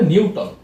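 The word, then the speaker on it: Knewton: আরেকটা নাম আমরা দেখি, সেটা হচ্ছে নিউটন, উচ্চারণটা হবে নিউটন।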